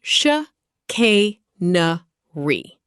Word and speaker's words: chicanery: Chicanery, pronounced sh k nuh re.